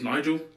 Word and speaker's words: Nigel: hard r states so my name is nigel but i don't know how but some people manage to mispronounce my name and call me a nick oh my god okay